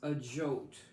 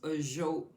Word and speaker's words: Ajoite: All right, so let's first take a look at this Ajot crystal. And that's Ajoite, just in case I mispronounced it.